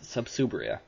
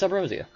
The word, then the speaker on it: Subrosia: Now, the funny thing about Subrosia, for the long longest time, I pronounced it subsria cuz I'm, you know, lexic and all that, but it's subrosia. So, if I at any point say subsria by accident, that's why.